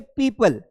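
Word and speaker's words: people: जाएगा तो इस सिचुएशन में हमें ओ को प्रोनाउंस नहीं करना है जैसे पीपल तो पीपल की सिचुएशन में यहां पर एक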